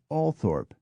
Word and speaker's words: Althorp: next to the B Count's ancestral home say althorp the Scottish town of a u c h i nle e c k is pronounced ainle but the local Baron Lord Boswell